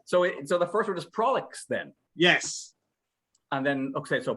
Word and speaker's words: Prolix: So the new show is called Comix, Prolix. No, it's Prolix. Oh, okay. Should we start this whole thing again? No, it's going well. Excellent. All right. So the first word is Prolix then.